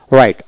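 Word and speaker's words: right: রাইট, আর আই জি এস টি রাইট, রাইট বানান করতে হলে আর আই টি রাইট, এখানে জি উচ্চারিত হবে না, এইচ উচ্চারিত হবে না।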